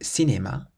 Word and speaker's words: cinéma: Or cinéma. Cinéma means cinema. So in c'est, it's a C followed by an E, and in cinéma, it's a C followed by an I.